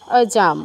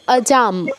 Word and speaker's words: অজাম: অজাম। অর্থ কি? অর্থটা কি? একজন ছাগলকে বা একটা ছাগলকে। অজম নয়, অজাম, আকার আছে, অজাম।